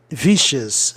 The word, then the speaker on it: vicious: Vice, vogal consoante é, vicious, vicious, lembrando que seals é uma sílaba só, vicious. E sempre que tem grupos especiais assim, ó, seals, né, sions, Cean, de Oceano Ocean, o I vai soar I, né, vicious, pode ficar tranquilo. Ó, tion, né, tradição, tradition,